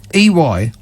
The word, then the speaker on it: EY: According to a new survey by the business services group EY, which is not A. that's not what it. That's not how you pronounce it. It's not A. EY.